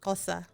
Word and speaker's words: Xhosa: XHOSA, Kosa.